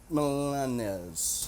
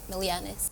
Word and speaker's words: Milianes: Oh, and Chief Personnel Specialist Rubian Milanes. Say it right, Milianes.